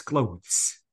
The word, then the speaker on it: clothes: no in general please it's not clothes it's clothes okay guys reach so